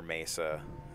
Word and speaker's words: Mesa: nice steel reaper yeah that's mesa not mess up by the way i live near mesa i hear it all